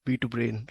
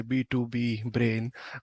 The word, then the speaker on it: B2Brain: Secondly, thanks for pronouncing it right, B2Brain, right? Folks typically might say B2B brain, but you're pronouncing it perfectly.